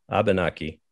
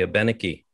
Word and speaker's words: Abenaki: the original tongue and if you're uh an english speaker you might say abenaki if you're a french speaker a little closer to the original language traditional allies you might say a beniki if you're from vermont which we all are you might say abenaki and many vermonters might say abernachy and and these are